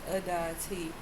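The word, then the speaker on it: Aditi: opening you up mother of the endless universe pronounced adity is a hermodal Hindu goddess who appears often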